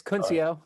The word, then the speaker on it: Kuncio: my name is uh jesse will's kind of butchered i'm cuncio it's all right dude no everybody messes it